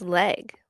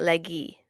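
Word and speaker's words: Legge: So This is just saying It's just Leg, like Katherine Leg. Is it really? I guess so. Yeah, like everything that's like coming up it's it's Leg not Leggy.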